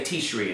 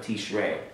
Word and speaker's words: Tishrei: Tishrei is another one. They always say Tishri and stuff because they don't realize there's a seirei underneath the resh for not Tishri, but the month of Tishrei.